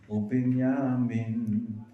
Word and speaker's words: Binyamin: Yosef Uvinyamin, because it rhymes. Banim and Binyamin.